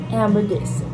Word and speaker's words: hamburguesa: I think the H's are silent. Oh, yeah. Hamburguesa.